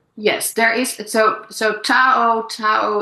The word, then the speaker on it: Tao: in the mo in the pinching uh ch Chinese you might pronounce it as dao you know and and so but it's a difference between the pronunciation of the d and the t so um but there